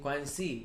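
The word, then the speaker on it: 关系: Guanxi.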